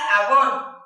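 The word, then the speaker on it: עוון: Dios quiere para nosotros en el original La maldad se pronuncia avón que significa iniquidad y la iniquidad es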